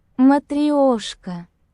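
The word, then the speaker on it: Matryoshka: Um, next up, we got the Matraoska. I'm pretty sure that's how you pronounce it. If not, here I'll show a clip on Google Translate on how you pronounce it. Matrioska.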